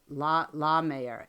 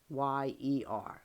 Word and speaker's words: Lahmeyer: His name, I'll give it a try though. Jackson LaMayer. It's LAHMEYER.